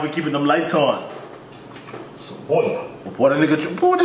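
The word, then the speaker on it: cebolla: Saboya. What a nigga. What a nigga. Saboya. Nigga. You didn't know that? Nope. Saboya? You've been doing reading lessons, right? And one of the reading lessons, they say Saboya.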